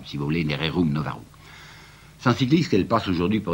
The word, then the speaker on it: Rerum Novarum: la fameuse encyclique que je prononcerai comme vous prononcer à ce moment-là rerum novarum si vous l'aimez rerum novarum 106,10 qu'elle passe aujourd'hui pour une déclaration extraordinaire